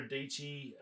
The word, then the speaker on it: Dietschy: Watched a little bit of Sarah Dietschy, Rhymes with Peachy.